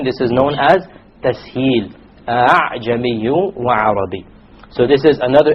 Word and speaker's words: أَعْجَمِي: It is not a pure hamza, and it is not a pure alif. It is in between. This is known as tasheel. أَعْجَمِيٌّ وَعَرَبِيٌّ.